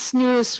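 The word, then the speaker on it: snus: Another newer type product, snooze, it's been around for a little while. It's snooze, rhymes with loose or goose.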